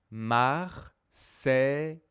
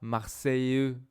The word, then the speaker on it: Marseille: Marseille, je dis pas Marseilleux, je dis Marseille.